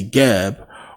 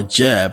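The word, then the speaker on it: Geb: under it you see gab or Jeb however you want to pronounce it which is basically Earth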